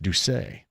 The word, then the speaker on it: Doucet: Our guy Jeff Jones from Heaven Hill Distillery says Doucet is how that's pronounced. Doucet. He would know of Heaven Hill Distillery.